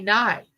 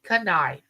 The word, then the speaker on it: knife: say canif you know no the K is silent you know you say knife well why isn't kife if it's if it's